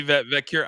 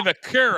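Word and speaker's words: Vaquer: I realized today I've been saying her name incorrectly uh from somebody on social media said their name. I was like I don't say it like that. And it's it's Stephanie Vakur. I think it's Vakur.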